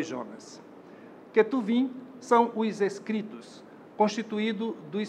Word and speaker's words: Ketuvim: O termo é formado com as iniciais dos livros que fazem parte da Tanakh: Torá, Neviim, pronúncia atual da palavra Nebiim, Ketuvim, pronúncia atual da palavra Ketubim. Torá é um conjunto formado por 5 rolos sagrados: Gênesis, Êxodo, Levítico, Números e Deuteronômio.